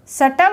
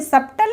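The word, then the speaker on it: subtle: डाउ नहीं बोलेंगे इसको एस यू बीटी एल शटल सटल बोलेंगे सबटल नहीं बोलेंगे इसको क्लियर है नेक्स्ट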